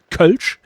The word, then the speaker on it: Kölsch: And that's also the way you pronounce it. It's Kölsch in High German, and it's Kölsch for the people who live there.